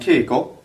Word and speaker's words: Keiko: And keiko is a name. Remember, the way we make a long e sound is we add this hiragana for e, right? Ke-i, keiko, keiko. For the syllable ni, we're